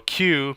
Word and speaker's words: queue: the deck so a cue pronounced by the letter q is actually from the